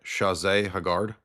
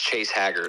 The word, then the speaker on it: Chase Haggard: Chazé Haggard. No, it's Chase Haggard.